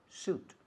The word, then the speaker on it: suit: Como traje, se escribe sweet. Pero no se dice sweet, se dice suit.